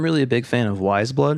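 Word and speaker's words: Weyes Blood: I'm really a big fan of Wise Blood right now. Have you ever heard of her? Wise blood? She it's spelled Weyes. Wise Blood.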